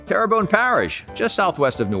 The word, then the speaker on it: Terrebonne: a wachita parish a wachita parish turban parish terrebonne terrabone parish tarabani terrebonne terrebonne parish just southwest of new orleans houma thibodeaux